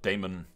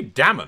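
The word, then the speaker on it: Daemon: It'd be Damon and Mud, right? Rather than, because Damon's the Targaryen spelling of the D-A-E, and then you kind of, the A is silent.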